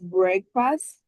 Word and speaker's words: breakfast: If you are talking about break, the pronunciation is break. But when you create the word breakfast, breakfast, when you put it together with fast.